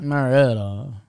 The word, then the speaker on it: Marietta: We're having our annual Allstar game event in Marietta, Georgia. Did I pronounce that right? Yep. I think so. Do you think they say it more like Marietta? Maretta.